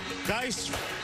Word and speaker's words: Guice: As they say down in Baton Rouge, Guice rhymes with red beans and rice.